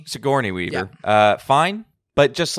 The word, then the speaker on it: Sigourney Weaver: Sigourney Weaver, right? That's how you say her name. Sigourney Weaver.